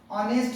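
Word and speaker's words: honest: देखने वाली बात है जैसे पर एग्जांपल ओंस ऑनेस्ट में देखिएगा हा के ठीक बाद है ना ओ आया है तो ये वावेल है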